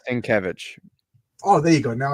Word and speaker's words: Lenkiewicz: and I'm sorry linkevich I I always say it's like kevich oh there you go